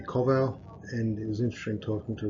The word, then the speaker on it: Kowal: um it was interesting my last name I pronounced It's supposed to be Koval and it was interesting